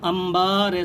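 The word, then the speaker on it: انبار: امبا رے ساکن امبار۔ یہ اگرچہ عربی کا قاعدہ ہے کہ بے سے پہلے نون ساکن ہو تو اس کو میم سے بدل کر پڑھتے ہیں، لیکن اس کا استعمال اردو اور فارسی میں بھی کہیں کہیں پایا جاتا ہے، جیسے امبار، دمبا اور شمبا وغیرہ میں۔ پہلے یہاں ہجے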